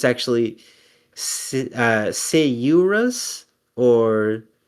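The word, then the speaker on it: Sciurus: an actual scientist and a biologist who had pronounced uh my name which is the genus for squirrels um as skyurus and I recently looked it up cuz I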